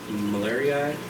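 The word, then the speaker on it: marlieri: of jul chromis are those do you know malari okay that's how you pronounce it yeah I almost order like these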